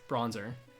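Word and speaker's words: Bronzor: guys are so fickle did you say bronzer yes bronzer that's literally its name that's so ridiculous unless its name is short for Bron Zordon I will not be changing the pronunciation what's my favorite new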